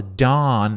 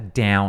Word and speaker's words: dawn: Dawn, a palavra dawn, inclusive a pronúncia dessa palavra aqui, não é down, não, é dawn. Né? É um dó, então dó e um N no final. Dawn.